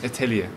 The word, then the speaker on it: Etheliya: have you must be honest how was my pronunciation of your name correct correct Italia it okay it is a lovely name and